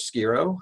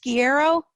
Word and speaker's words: Shiro: It's Shiro. Yeah, like school.